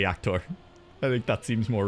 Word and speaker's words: Jaktor: The triple R in Jaktor. Yaktor. Really roll that R. Really get the pronunciation in there. Or we'll just say Yaktor.